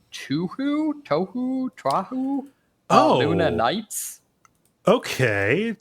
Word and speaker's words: Touhou: I think it's pronounced Touhou, Luna Nights. Okay, Touhou. Yeah, Touhou.